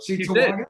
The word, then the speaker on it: Cheektowaga: So I said it right, though. Cheektowaga. You did. You said it a lot better than Lars, yeah.